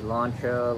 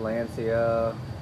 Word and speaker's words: Lancia: you've been waiting on is the launcha Lancia however you want to pronounce it I believe it's actually launcha but here in the states we Americanized it in Delano and it